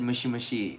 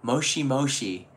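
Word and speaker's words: もしもし: mole she mo Shi it sounds like mush mushy but I learned by living here because I said mushy mushy like the first maybe month and it was moshi-moshi is actually how they say it moshi moshi and yeah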